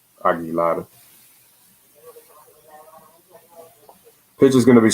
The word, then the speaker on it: Aguilar: now that's going to bring up jesus aguilar aggie lot i should say because that's the way you pronounce his name aggie ladder pitch is going to be strike one on